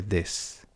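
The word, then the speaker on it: です: La U normalmente, cuando va al final, en la pronunciación esto depende también del lugar del Japón en el que uno esté, pero normalmente suele tender a desaparecer, ¿no? Por eso no se dice desu, sino que se dice des.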